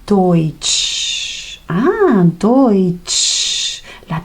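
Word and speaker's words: Deutsch: La grafía de EU. Siempre, siempre, y eso es lo bueno. H, vamos a leerlo como o i toich.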